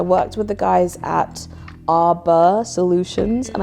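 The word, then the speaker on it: Arbor: with the guys at arur Solutions and I say it like that because I know it sounds like AR which is obviously my brand but arur is a r b o r it came out really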